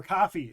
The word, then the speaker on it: Ko-fi: On all the social medias, Blue Sky, Tumblr, Instagram, Facebook, X, all of those, Ko-fi, Patreon, or Coffee, if you say it like we say it.